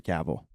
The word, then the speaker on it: Cavill: caval Henry caval I think he has an accent and says cavil that's why I keep thinking it I think I don't know but I just looked it up I just watched Jimmy Kimmel pronounce it as Henry caval yeah Henry caval but I like Tim